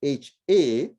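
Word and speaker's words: ح: Which is not, it's not AH, it's actually HA, but it's an aspirated H.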